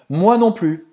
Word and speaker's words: moi non plus: Você não vai pronunciar o S no final. Moi non plus.